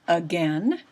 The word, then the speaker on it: again: the word again and that first letter that first sound is an a a letter a but it doesn't say anything it doesn't sound like an a it sounds like a short u uh again isn't that